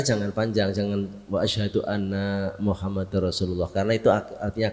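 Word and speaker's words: أَنَّ: Muham jadi nanya jangan panjang jangan wa Ashadu anna muhammadar rasulullah karena itu artinya akan berbeda ketika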